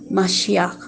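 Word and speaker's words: משיח: quiere decir mesías y en hebreo que se pronuncia más ya que esto significa ungido que es salvador libertador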